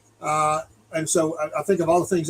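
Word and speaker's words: Senoia: Soya, but down here we pronounce it Soi, but it's spelled Soya.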